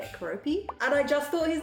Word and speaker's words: Keroppi: And it was this girl who found Keroppi for the first time. I think that's how you say it, Keroppi.